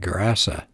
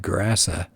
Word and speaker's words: Gerasa: And it says the English pronounce it Cursa, but a Hebrew word translates it into Greek, and it would sound like Gerasa.